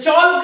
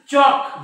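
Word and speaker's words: chalk: असतो सायलेंट असतो हे टॉल्क नाही टॉक हे चॉल्क नाही चॉक जो माझ्या हातात आहे बघा हे वॉल्क नाही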